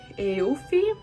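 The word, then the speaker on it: Aoife: uh the wedding planner eh eofy i believe her name is pronounced gives them a discount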